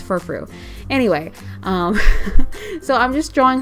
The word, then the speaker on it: Furfrou: I always want to pronounce it Furfrau, and it's like, that's not it, it's Furfrou.